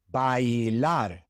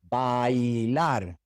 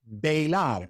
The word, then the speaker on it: bailar: all of the vowels, such as in bailar, bailar. You have to pronounce the A and the I. Ahí, bailar. It is not bailar, it is bailar.